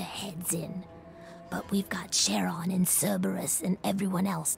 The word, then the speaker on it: Charon: I think it's supposed to be pronounced Charon, at least as far as I've heard. Because it's based off the, obviously, the thing that, the entity that navigates the River Styx.